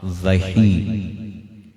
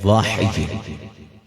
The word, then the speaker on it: وحی: جو لفظ پڑھنے ہاں وحی، یہ لفظ اس طرح نہیں بلکہ صحیح اس کا تلفظ ہے واحی، وما ينطق عن الهوى